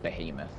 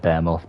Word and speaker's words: Behemoth: beam off if I didn't know it Stanford behemoth like you know I call it I know I know it's meant to be pronounced uh Behemoth but um I call it bear moth because um again there's a there's a robot